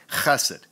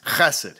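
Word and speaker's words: חֶסֶד: Bible is this word, chesed. Say it, class, chesed. You gotta pronounce it like you're trying to hock up a big loogie to spit on some nerd who just disrespected you at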